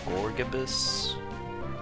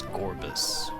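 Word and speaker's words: Gorebyss: I just realized I've been mispronouncing that name the whole time. Gorgabus. It's Gorbus.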